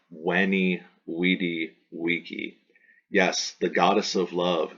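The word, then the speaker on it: veni, vidi, vici: sound right here that in classical Latin is browse like a W Wow so the julius ceaser quotation which is commonly in english said veni vidi vici or veni vidi vici would have been said by Caesar when e we D vici yes the goddess of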